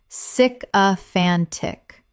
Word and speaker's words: sycophantic: Correct pronunciation, sycophantic. Four syllables with the stress on the third, meaning excessively flattering.